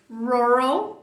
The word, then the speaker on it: rural: Quem é a sílaba mais forte? Ó, o tracinho aqui é a primeira. Então é rural, não é rural, né? Então, rural.